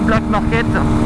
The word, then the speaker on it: BLK MARKT: Notamment, je vous conseille, si ça vous intéresse aussi, d'aller regarder la chaîne Black Market. Ça s'écrit BLK MARKT, quelque chose comme ça.